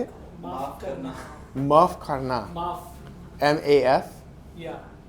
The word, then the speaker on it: maaf karna: Maaf karna.